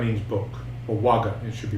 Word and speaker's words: vagga: kaga a t a which means eight okay Vaga means book or waga it should be pronounced means book um so it's the ATA